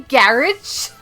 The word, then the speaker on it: garage: You say garage? Yeah, garage. Is that how you say it? No, you put emphasis on the second A. Garage.